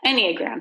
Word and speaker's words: Enneagram: test the disk test the any Enneagram yeah Enneagram that's how you pronounce it and I'm very rare so you